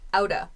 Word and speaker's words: outta: Kohei says, we gotta run outta here. Nice pronunciation point. This out of becomes outa.